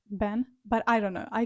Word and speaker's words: 本: I know that in Japanese it means book and it's pronounced Han, but I think that in Chinese it means origin, I think. and it's pronounced like Ben, but I don't know.